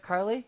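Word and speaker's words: Keighley: Geoff Kylie? Yeah, Jeff Carley.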